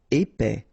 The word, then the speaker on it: épais: Épais, final S not pronounced, E together, épais, épais.